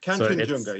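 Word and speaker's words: Kangchenjunga: Um, you know, what inspired you to take on Katchan Junga and and am I saying it correctly there? Ken Junga.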